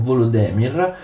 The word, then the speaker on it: Volodymyr: suo figlio vladimir che attenzione gli ucraini scrivono così pronunciano volodymyr e invece era stato